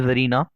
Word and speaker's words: tsar: अब यहाँ पर रशिया में उस टाइम किंग के लिए जार यूज होता था जिसका मतलब स्पेलिंग होती है TSAR या फिर हम CZAR भी हम स्पेलिंग में डाल देते हैं कभी कभार।